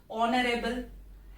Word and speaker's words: honorable: H is silent here. O is prominent. Okay. Honorable.